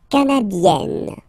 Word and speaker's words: canadienne: Le Canada, canadien, yin, yin, yin, yin, here, canadien, canadienne, yen, yen. Remember, here you've got double N, so you've got to open the so it will become A, canadienne, okay?